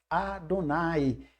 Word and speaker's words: Adonai: forma o nome Adonai, que se pronuncia o nome do Eterno desta forma. Adonai, que vem da raiz da palavra Adon, Adon, Senhor, Adonai, meu Senhor.